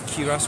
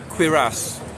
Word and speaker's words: cuirass: Sorry if it's cuirass, wait. Ah, I got it, guys. It's like with a Q. Cuirass. Yeah, cuirass it's called. Just Google is pronouncing it as cuirass.